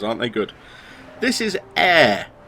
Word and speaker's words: Ayre: those the videos aren't they good this is air it's spelled a y r e so i guess if you were scottish you could pronounce it aya but then you'd be wrong but then that's